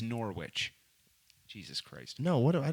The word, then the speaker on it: Norwich: don't know who Norwich is how do you pronounce well I'm sorry I'm from America it's Norwich Jesus Christ no what I don't give a